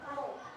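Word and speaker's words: ρ: kita menggunakan pokok ini ini bukan P ini bukan di apa dibaca P tapi dibacanya nya roho roho ro ya dibacanya roho r = m/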